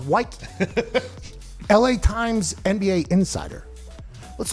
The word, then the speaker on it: Woike: Woo! Spelled Woike. Pronounced Woike.